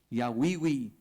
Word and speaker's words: Yahweh: it right, you have to say it right, Yahweh.